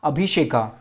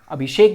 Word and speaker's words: अभिषेक: अभिषेका, अभिषेक बोला जाता है। जो इंग्लिश होते हैं वो अभिषेका प्रोनाउंस करते हैं उसे।